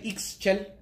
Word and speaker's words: Ixchel: You could also say Ixchel, because it's I-X.